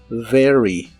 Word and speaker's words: very: Recuerda que la V o V chica como la conozcas en inglés es labiodental y vibrante. Very, very.